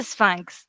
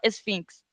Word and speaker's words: Sphinx: la pronunciación francesa es Sphinx. Sphinx, exactamente. En francés dice Sphinx, pero claro, eso en español no se coge por ningún lado. Sí. Exactamente. Entonces, en españolizado, Sphinx.